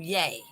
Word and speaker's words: Ye: you pronounce that yeah he's legally changed to yay right yeah yay yes anyway two letters that's it yay so um what i